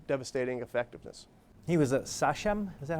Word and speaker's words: sachem: He was a sachem? Is that how you pronounce it?